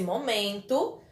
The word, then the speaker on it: momento: A próxima palavra é momento. Momento. Qual é a sílaba mais forte? Men. Ó, momento. Então, men é a sílaba tônica da palavra.